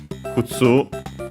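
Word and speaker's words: 靴: Kutsu, I think it's accented on the last syllable.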